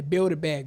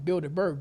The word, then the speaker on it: Bilderberg: The Bilderberg Group. That's not how you pronounce it. It's called the Bilderberg Group.